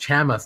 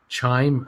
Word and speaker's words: Chamath: It's pronounced Chamath, not Chime, whatever.